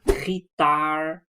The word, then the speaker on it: gitaar: You can pronounce it in so many ways because it has a G and it has an R, right? And I have lessons about those sounds. So I can say gitaar, I can say gitaar, right?